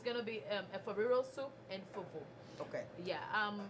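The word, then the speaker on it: Efo riro: Efariro.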